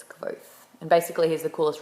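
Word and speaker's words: Kvothe: t h e uh it's said to be pronounced like qu but it's quo and basically here's the coolest redhead you're ever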